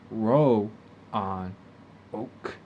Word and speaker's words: Roanoke: the middle stretch of this islands you have roanoke spelled rey on oak and pronounced row on oak but if you fall that string a lot